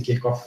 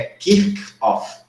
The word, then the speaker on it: Kirchhoff: A gente provavelmente vai pronunciar em português Kirchhoff, porque a gente aprendeu que CH tem som de X, mas no idioma original, né, por ser um nome próprio, é Kirchhoff.